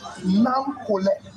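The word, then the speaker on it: Nakolleh: So we're naming you Nam Kole.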